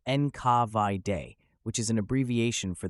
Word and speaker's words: NKVD: GPU pronounced gay and now nkvd pronounced enav de which is an abbreviation